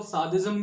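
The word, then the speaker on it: sadism: अब इसका प्रोनाउंसिएशन जो है वो सादिज्म भी है, फ्रेंच में इसे सादिज्म कहते हैं, सैडिस्ट कहते हैं।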